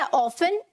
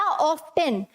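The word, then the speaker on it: often: अगर आप बोलते हैं ऑफन या ऑफ्टन, दोनों ही सही हैं, ठीक है, दोनों ही सही हैं, लेकिन क्योंकि इंडिया में मोस्टली मतलब ज्यादातर जो बोला जाता है दैट इज ऑफन, ठीक है, टी साइलेंट रहता है इसमें, ठीक है, ऑफन में ये जो टी है वो मोस्टली साइलेंट रहता है।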